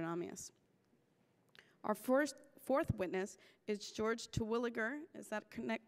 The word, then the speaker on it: Terwilliger: Our fourth witness is George Terwilliger. Is that correct pronunciation?